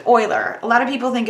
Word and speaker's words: Euler: Swiss mathematician because it was Leonard Euler we pronounced Euler a lot of people think it's Muller and